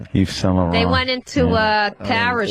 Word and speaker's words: Yves Saint Laurent: Yves Laurent. You don't agree with what? Yeah, they're They're what? Tactics. Tactics. Maybe I don't say it right. Yves Saint Laurent. They're tactics. What did you say? Eva what? Who? What's the designer? Yves Saint Laurent. Yeah, that's right, actually.